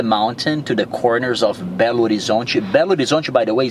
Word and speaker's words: Belo Horizonte: Belo Horizonte. Belo Horizonte.